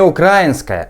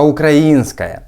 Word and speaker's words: украинская: украинская бюрократия украиня бюрократя не украинская а украинская Він же розумна людина і прекрасно знає де в цьому слові робити наголос але ж московити так